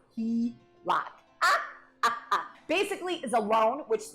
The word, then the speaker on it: HELOC: A home equity line of credit, often called the HELOC and pronounced HELOC.